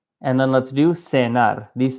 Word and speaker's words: cenar: And this is cenar with like an S sound. But in Spain, they are pronounced as a th. So this would be cenar.